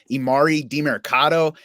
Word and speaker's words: Emari Demercado: I would not take him this week over imari marado and that's the pronunciation according to the pro football reference key